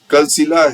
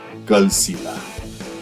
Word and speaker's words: Kalsila: collected so this is your Kila cave folks cila has been Mis pronounced Mis as Paka the actual word is cila folks I hope you found this video educative